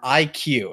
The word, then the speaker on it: iQue: Is it Retro Studios, Game Freak, Monolith Soft, or IQ? And that's spelled IQUE.